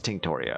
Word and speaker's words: Tinctoria: I'll change one of these to Tinctoria. Tinctoria. It is Tinctoria.